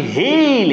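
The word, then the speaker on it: hale: মানে হচ্ছে বিবর্ণ অথবা ফ্যাকাসে আমরা জানি যে হেইল এন্ড হার্টি মানে হচ্ছে হেইল হচ্ছে সুস্থ হেইল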